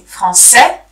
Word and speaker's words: français: You see, français, we don't pronounce the S. Française, we pronounce it because it's no longer the last letter.